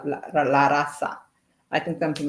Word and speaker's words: raza: I think in Spanish, the Z is pronounced like how S is, like la raza.